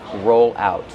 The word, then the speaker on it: roll out: Use a long O like no and go.